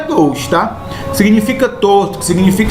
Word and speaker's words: gauche: Palavra advinda do francês, a pronúncia correta é gauche, tá?